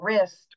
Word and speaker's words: wrist: when we you know when you spell ring or wrist or WRA alls you hear is the this sound of the r but there's a w in there right that helps protect